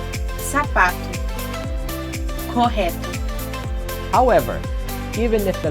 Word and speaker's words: sapato: However, if the letter O comes at the end of a word, and if it doesn't have an accent mark above it, letter O sounds like an U. Sapato, correto.